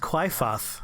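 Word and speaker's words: Qliphoth: inside of that Tower of Doom oh it's pronounced cliath now we know it's a tree that grows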